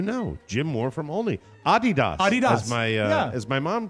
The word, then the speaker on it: Adidas: It comes from the name of the founder, Adolf Dassler, whose nickname was Adi.